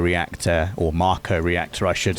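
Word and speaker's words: Mako: the bit where they they finally reached the makeer reactor or Marco reactor I should say that's how it's officially pronounced Marco even though I've already said Mo they get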